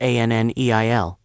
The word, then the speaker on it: Anil: My name is Anil, pronounced Anneil.